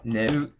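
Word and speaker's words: 寝る: Either the verb is going to be Heiban, for example, like neru, warau, asobu. These are all flat.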